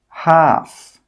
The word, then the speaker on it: half: Some example words are walk, half, calf, yoke, could. In all of these words, we are not pronouncing that L sound.